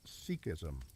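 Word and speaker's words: Sikhism: Sikism pronounced sikism.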